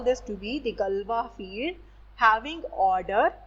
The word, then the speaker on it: Galois: Now note here that we write this to be the Galois field, Galois, given by the scientist mathematician Galois, but we pronounce this to be Galois, right?